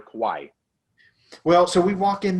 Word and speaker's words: kawaii: it was pronounced uh it looks like hawaii but it with the k so i think it's pronounced kawaii or kawaii well so we walk